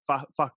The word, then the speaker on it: Facu: Well, what I love is first of all, I've never heard anybody pronounce the emphasis on the second syllable, Facu, but I kind of like it. Facu.